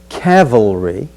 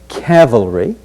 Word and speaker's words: cavalry: first key word is cavalry not to be confused with another word calvary the two words are completely different in spelling so this word is cavalry then we'll go on